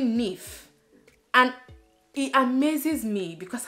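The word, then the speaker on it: Niamh: in my course, and I used to call her Niam, like, you know how it's spelled, like you kind of call her Niam and then just forget the H, and because to you it's almost silent, but then it's actually Nif, and it amazes me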